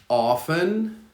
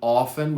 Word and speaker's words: often: woman women woman often or often both are okay often is more common often without the t and then outfit outfit